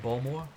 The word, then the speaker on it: Baltimore: Balmore? I think that's how they say it, Balmore.